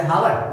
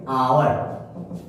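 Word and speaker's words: hour: जैसे for example ले लीजिए एच ओ यू आर, क्या हम पढ़ेंगे इसे हावर, नहीं, हम इसे पढ़ेंगे आवर। अब देखिए एच जो है यहाँ पे क्या है, अनुचरित है, जिसका उच्चारण नहीं किया जा रहा है, इसका उच्चारण लिया जाता है आपको वॉवेल, क्लियर।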